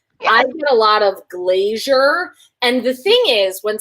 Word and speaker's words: Glazer: And number two, in terms of ways that people pronounce your name, I get a lot of Glazer. And the thing is, when someone, like, brings you up, there's no I. Right. That's saying. Glazer.